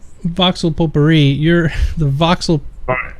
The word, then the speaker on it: potpourri: All right, Coin and Cleavage says, where can I get myself some voxel potpourri? I heard it smells like victory. Potpourri. Yeah, I totally mispronounced that.